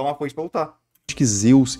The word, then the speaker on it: Zeus: O som do zeta, a primeira letra de Zeus, no grego mais antigo era pronunciada como DZ, então seria algo como Zeus.